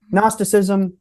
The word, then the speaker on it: Gnosticism: dump on esoteric history gnosticism that's g n o s t like it it's it sounds like it's spell with an N but it's with a silent gnosticism is basically the